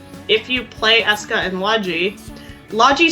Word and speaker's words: Logy: It's actually Logi. That's how they pronounced it in the game.